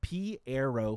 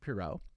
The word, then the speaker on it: Pierrot: to assume they are they pronounce it Piero films Piero films films Piero films is how they pronounce this not poo how we nope